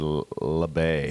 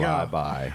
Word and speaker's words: Labay: I said labay. And it's actually, there we go. Lie-by. It's actually lie-by, and I apologize for all you lie-by students and parents of lie-by students.